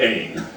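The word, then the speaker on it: אֵין: And so ayin changes its pronunciation to ein when it comes before the word sof, which means boundary.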